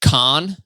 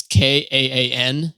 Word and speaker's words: Kaan: I've been listening to this EP by this guy named, I think you pronounce it Khan. It's Kaan.